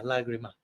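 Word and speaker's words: lágrima: So yeah, lagrima. Yeah. Lagrima. You pronounce it like a G, lag? Yeah. In Latin it's lacrima and in Spanish is lagrima.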